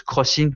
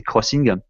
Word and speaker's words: XING: Donc, je crois qu'on appelle on prononce crossing, puisque c'est X comme une croix, en fait c'est crossing. Voilà, donc c'est si vous